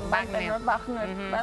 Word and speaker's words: Wagner: Pero el apellido es como sí, es muy Wagner. No sé. Porque pero es doble. O el doctor Wagner. Sí, es con W, pero se pronuncia con B, ¿no?